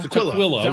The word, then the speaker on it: Tukwila: Tukwila, Washington.